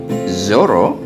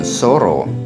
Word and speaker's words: Zoro: Misalnya, Zoro bukan Soro, zebra bukan zebra, zoom bukan sum atau jum.